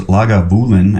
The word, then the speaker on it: Lagavulin: founded the first legal Distillery here at lulan pronounced lagavulin after the gelic Lagan Mulan the hollow where